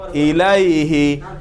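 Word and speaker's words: إليه: তারপরে আসি আমরা ইলা এবং আলা, এই শব্দ সর্বনামের দমির পূর্বে আসলে এদের ইয়া উচ্চারিত হবে।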